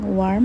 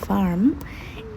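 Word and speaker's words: warm: বৃষ্টি হচ্ছে east S ভার্ম গরম আছে আগেই বলেছি ডব্লিউ কে ভি এর মত উচ্চারণ করে সুতরাং ওয়ার্ম হবে ভার্ম ইস্ট এস ভার্ম গরম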